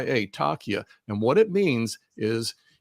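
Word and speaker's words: taqiyya: Islam has a uh it's it's a religious dogma and it's called takia and it's spelled t a quq i y a takia and what it means is you are allowed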